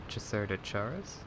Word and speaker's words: chasseur: fairly new AMX CDC I think it's pronounced chera Charis but uh correct me if I'm wrong because I don't speak one word of French so my pronunciation could be completely off so I think from this